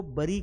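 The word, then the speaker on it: bury: दफनाना को कई लोग हम लोग ब्यूरी पढ़ लेते हैं। हम क्या पढ़ते हैं? बी यू आर व है तो ब्यूरी होगा भाई। ये ब्यूरी नहीं है। किसी को बरी करते हैं और बरी की भी बजाय आपको बैरी पढ़ना है।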